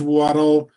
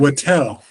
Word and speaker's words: Wattel: Wattel. Okay. Please tell your client no disrespect intended, but I'm going to make a note rhymes with Mattel, so I remember it next time.